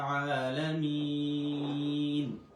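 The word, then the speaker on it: العالمين: আলহামদুলিল্লাহি রব্বিল আলামিন। আলহামদু লিল্লাহি আলহামদু আলহামদু হা আলহামদু লিল্লাহি লিল্লাহি আলহামদু লিল্লাহি রব্বিল আলামিন। রব্বিল রব্বিল আলামিন। এখানে আবার এক আলিফ টানছি। লামিন লামিনের শেষে তিন আলিফ টান হবে।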